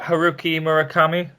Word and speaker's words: Haruki Murakami: Can I pronounce that? Haruki Murakami?